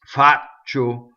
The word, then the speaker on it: faccio: See, so it's ci is just the eyes. They're just to soften the ch, right? The c. Faccio.